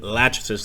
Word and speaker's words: Lachesis: So, we're dealing with Lachesis, the correct pronunciation here, a major Cylon general, and this should be an interesting conflict.